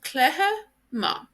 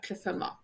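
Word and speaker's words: cluiche maith: So for example, the CH here is pronounced like an F in Connacht. So they actually say cliffe, cliffe, cliffe ma, good game.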